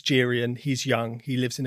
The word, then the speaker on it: Geryon: And Geryon, I think it's pronounced Geryon. I actually looked Yes, at this. Geryon.